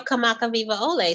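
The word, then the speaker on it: Kamakawiwoʻole: worldwide which is awesome how do I say that again kamaka kamaka viva viva ole ole kamaka Riva Ole yes that became uh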